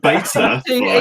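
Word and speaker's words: Betaflight: Just beta flight. He's too posh now. So that everyone else says beta, right? So from who on the screen? Who goes first? What I say beta flight.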